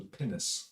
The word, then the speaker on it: pinnace: So the pinnace, is that how you pronounce it?